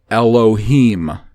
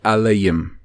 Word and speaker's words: Elohim: it in the pronunciation the Masoretic pronunciation Elohim which in the ovary pronunciation it would be eleum kind of like Allah and yem Allium as far as I'm